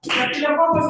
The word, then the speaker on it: Staphylococcus: Staphylococcus ya, Staphylococcus ya. Bukan Staphy ya, bacanya A ya, Staphylococcus.